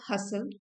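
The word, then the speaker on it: hustle: Starting a side हसल। इसमें T silent है।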